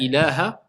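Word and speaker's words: إلى: Tu te diriges, adhabu ila al-masjid, je vais vers la mosquée. Donc illa et ila, ça a deux choses complètement différentes. Donc quand il y a une shidda, il faut prononcer la shidda.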